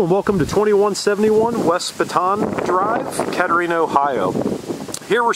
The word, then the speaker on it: Bataan: This is right where the East and West Bataan, or Bataan, depending on how you want to pronounce it, split is.